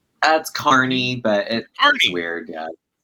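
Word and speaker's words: Kearney: was born He was born and raised in Kierney, Nebraska. Did I get that right, John? Did I pronounce that right? That's Carney, but it weird. Yeah, there you go. Carney, Nebraska.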